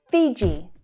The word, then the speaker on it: Fiji: Fiji, Fiji. it's the long E vowel sound, Fiji. So the consonant sound, J, J, Fiji, Fiji. Finland, Finland.